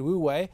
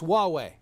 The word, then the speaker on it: Huawei: in my consciousness because I pronounced it wrongly before I joined you there I said we way and it's Huawei and I've heard that